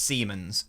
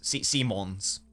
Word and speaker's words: Simons: So it's Siemens. Simons. Simons. Not Siemens. Simons.